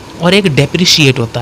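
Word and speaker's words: depreciate: आप ये डेप्रिकेट है, और एक डेप्रिशिएट होता है। डेप्रिकेट और डेप्रिशिएट में प्रोनाउंसिएशन का ही अंतर है, और ई और आई का अंतर है।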